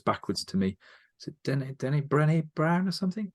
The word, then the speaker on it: Brené Brown: Is it Brené Brown or something? Brené Brown, Brené Brown. That's I was getting the name wrong.